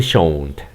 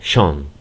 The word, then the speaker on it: shone: El americano lo pronuncia como yo lo hice, shone, ¿ok? El inglés británico dice shone, ¿ok?